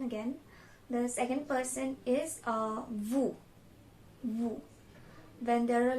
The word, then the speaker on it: vous: For the second person again, the second person is vous.